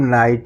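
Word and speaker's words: knight: कि एन आई जी एस टी को क्या पढ़ेंगे? इसको भी हम नाइट ही पढ़ते हैं। कि यहां पे साइलेंट होता है।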